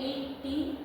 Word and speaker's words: etcd: Then the fourth one is the etcd pronounced etcd distributed key value stores at the host or cluster data.